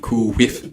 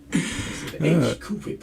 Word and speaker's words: Cool Whip: that stupid little nigga Stewie talking about some Cool whiff. shit. Cool whiff. He said what? Right, He said cool whiff. Why you pronouncing it like that? Cool whip.